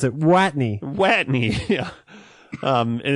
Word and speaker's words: Watney: Do they pronounce it Wattney? Watney. Yeah. Okay. Um and and actually they always pronounce it Wattney.